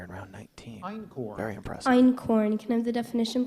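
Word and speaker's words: einkorn: tough one here in round 19n very impressive in corn can I have the definition please a one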